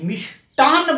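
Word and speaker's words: मिष्टान्न: इसके ऊपर मी, आधा से, टा और आधा न और पूरा न, मिष्टान बोलते हैं, इसका उच्चारण सही ये है।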